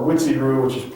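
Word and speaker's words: Uechi-ryu: Now, the thing to understand about Okinawa Kenpo is it hasn't been influenced by Shorin-ryu or Guji-ryu or Witsi-ryu, which is spelled Uchi-ryu.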